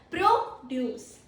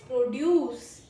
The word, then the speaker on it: produce: The fresh fruit that we eat, vegetables that we cook are known as produce. Produce. And second pronunciation is produce.